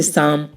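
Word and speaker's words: psalm: ऐसी और भी एग्जाम्पल हैं, जैसे साम, साइको।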